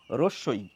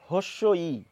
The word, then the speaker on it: হ্রস্ব-ই: বড় হলাম শিক্ষিত হলাম শিক্ষিত বাঙালির মুখের উচ্চারণ শুনলাম সেখানে দেখলাম যে অনেকেই বলছেন এই বর্ণটির নামের উচ্চারণ হস্যই এই হ আগে আনছেন এখন নামও শেখার চেষ্টা করলাম যে না এটি নয় এটি হবে কিন্তু তারপরে জানলাম যে এই বর্ণটির নামের উচ্চারণ এই চারটির কোনটি নয় এই নামের উচ্চারণ হচ্ছে এটি এটি কিভাবে উচ্চারণ করব রস ই বন্ধুরা এই যে উচ্চারণ